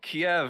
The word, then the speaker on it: Kiev: Oh, yeah, so Kiev is how you say the capital city of Ukraine in Russian, apparently.